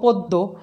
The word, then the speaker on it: পদ্য: তাহলে আদ্য অয়ের পরে জফলা থাকলে আমাদের আদ্য অয়ের উচ্চারণ ওয়ের মতো হবে।